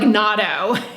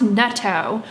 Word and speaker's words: natto: your mouth, or you're talking and it's like natto, you know, which actually someone commented in one of my videos, it's pronounced netto.